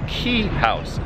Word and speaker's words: Quay House: It's spelled Quay, but somehow it's pronounced Quay House, just like my name.